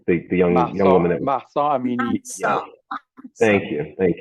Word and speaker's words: Mahsa Amini: The young woman that Mahsa Amini.